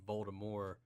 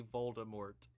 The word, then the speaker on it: Voldemort: Yeah, I remember her saying something about she had always intended the pronunciation to be Voldemort, where the T is silent, but the general populace pretty much forced it to be Voldemort, which I think sounds a lot better, in my opinion.